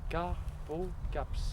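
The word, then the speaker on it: carpocapse: Carpocaps. C-A-R-P-O, caps. Carpocaps. Comme ça se prononce.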